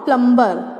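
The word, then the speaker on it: plumber: प्लम्बर, नॉट प्लम्बर, क्योंकि बी इसमें silent है।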